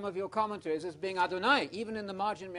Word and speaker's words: Adonai: Adonai, Adonai, Adonai. You know Adonai, it rhymes with El Shaddai, El Shaddai, you know it.